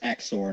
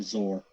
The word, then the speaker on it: XOR: and that's usually pronounced exor not zor because it's it stands for exclusive or so exor oh have